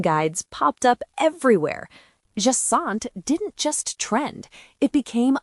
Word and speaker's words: Jacinthe: And in French it's pronounced jasant. Jasant jaant. One silent letter, one nasal vowel.